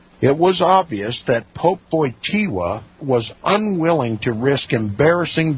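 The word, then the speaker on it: Wojtyła: his last name his real last name it's pronounced VOA it was obvious that Pope VOA was unwilling to risk embarrassing disclosures and in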